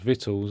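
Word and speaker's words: victuals: in lane a lot it's pronounced vittles isn't it hold out big pictures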